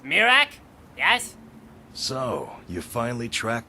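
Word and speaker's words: Miraak: Yes, and it is pronounced Mirak, yes?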